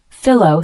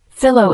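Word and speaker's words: phyllo: used for aair and cream puffs the word fillow spelled p h y l l o is a noun fillow is a type of very thin pastry dough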